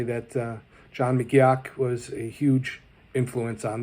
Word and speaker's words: McGeoch: Fortunately, there was a documentary about his life, and they said his name was McGeoch.